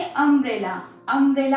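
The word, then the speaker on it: umbrella: अब देखिए अम्ब्रेला हम कैसे प्रोनाउंस करते हैं, अम्ब्रेला, एम्ब्रेला, यानी कि एम.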